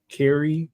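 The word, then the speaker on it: Kaare: dope uh drawn it's a new cover by Ki Andrews is that how you say his name oh k a a r e Carrie Carrie Andrews uh but it's it's freaking dope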